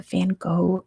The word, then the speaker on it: Van Gogh: They were stolen from the Van Gogh Museum. That's how we say his name in America, by the way.